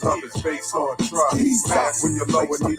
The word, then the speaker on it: Jesus: were no J's in Hebrew. Jesus is pronounced as he's us.